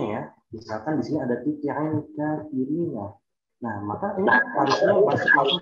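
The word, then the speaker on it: تُطِعِ الْكَافِرِينَ: Misalkan di sini ada tuti'il kafirina. Nah, maka ini harusnya masuk orang kan. Bacanya bukan wala tuti'i al-kafirina, tapi langsung tuti'i. Ketika kita mau menghafalkan tuti'i, langsung masuk ke alif lam.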